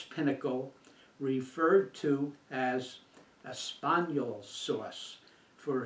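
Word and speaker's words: espagnole: as espanol sauce for a spaniel sauce is the quintessence of the purest form of a true brown sauce a spaniel the man repeated its the French pronunciation and spelling of the word Spanish the man slowly spelled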